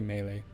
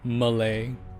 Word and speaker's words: melee: pronounce it melee melee I say melee Malay some people say Malay huh who cares that